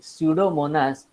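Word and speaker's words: Pseudomonas: इसके लिए यहां पर शिव मोनास पीटीआई नाम का एंजाइम लिया है स्टूडियो मॉनिटर्स पेडा ठीक है इसमें यह पीस जो है वह साइलेंट है इसको बोलना है छेड़ो महात्मा पीटीआई और यह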